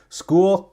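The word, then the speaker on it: Skool: And School, kind of like, just like the word is spelled properly, S-C-H-O-O-L. This one's S-K-O-O-L.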